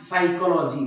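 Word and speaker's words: psychology: असं म्हणतात का प सायकॉलॉजी नाही सायकॉलॉजी बघा हा पी सायलेंट आहे सायकॉलॉजी सायकोथेरपी तुम्ही असं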